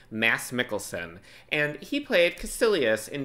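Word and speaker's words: Mads Mikkelsen: Because I just realized, first of all, I figured out how to pronounce his name. It's Mass Mikkelson and he played Casilius in Doctor Strange.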